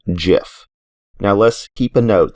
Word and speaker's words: GIF: so as you heard he pronounces it with the soft g as in jif now let's keep a